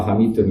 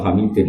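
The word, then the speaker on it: حميدٌ: Bacanya ya tetap ila hamidun karena i'rab hikayah. Enggak boleh kamu baca ila hamidin apa?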